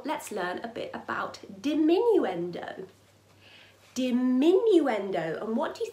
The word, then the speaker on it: diminuendo: our dynamic will be diminuendo is the word oh it's quite long did minuend oh five syllables five sounds let's break it down